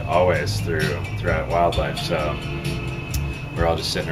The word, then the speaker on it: Wildildlife: But it's just pronounced Wildlife.